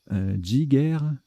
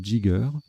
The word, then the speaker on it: jigger: Jigger, alors ça se prononce aussi jigger ou jigger.